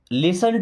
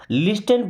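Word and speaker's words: listen: अभी हो सकता है कुछ लोग इसको लिस्टन पढ़ते हो। लिस्टन, आप में से कितने लोग हैं जिसको लिस्टन पढ़ते हैं? यहाँ पे टी साइलेंट है, क्या पढ़ते हैं? लिसन।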